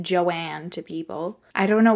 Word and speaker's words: Joan: deborah was born to joan who pronounced it joanne to people i don't